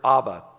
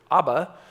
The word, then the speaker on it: abba: have noted it's because when you pronounce the aramaic word abba you don't need to have teeth think about that for